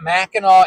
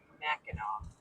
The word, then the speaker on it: Mackinac: And yeah, Mackinac. Right. Mackinac. Yeah. There you go. It looks like it should be Knack though, but that's not how you say it.